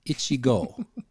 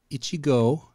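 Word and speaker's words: 一合: just like oh I'm scratching I'm itchy so Ichigo Ichigo and that's just go Ichigo means one 180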